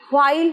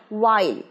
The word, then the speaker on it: while: হোয়াইল নয়, ওয়াইল, ওয়াইল।